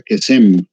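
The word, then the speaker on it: קסם: el cursor ahí, pero es la H7081, se pronuncia Kesem, traducido como brujería, adivinación y también falso profeta.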